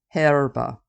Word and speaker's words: herb: from the Latin word herba which means grass with the H being silent today Americans or most of us anyway pronounced herb with no h while the Brits pronounce it with the h let's get to the